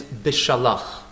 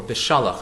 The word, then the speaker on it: Beshalach: The Parsha's name is Beshalach, or Beshalach, as some people pronounce it.